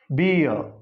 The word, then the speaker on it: beer: This final R is to be silent. So this is to be pronounced beer.